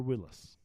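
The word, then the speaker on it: Willys: apostrophe in there it's Willis Overland Willis and it you know it it said Willis um Canada says does Willis like Bruce that is true so it's spelled Willy's but it is Willis I want to try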